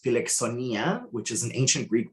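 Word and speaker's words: φιλοξενία: three the fourth bullet point down uh it's pronounced felix sonia which is an ancient greek word uh and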